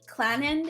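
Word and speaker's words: Clannad: them include um like i believe clan end if i'm not mistaken is how it's pronounced um i've played other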